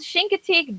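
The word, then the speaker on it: Chincoteague: And so the name that Sean can't pronounce, it's actually called Shinkatig Bay.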